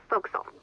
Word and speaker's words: forecastle: ship but it's pronounced fo'c'sle why is that try pronouncing it like an english sailor with no formal education spoke at all oakville